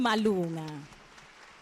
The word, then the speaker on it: Malunga: You pronounced my surname the Swazi way. You know, I lived in Swaziland for many years. I was telling your sister, and the Swazi and the Zulu way, the proper way, actually.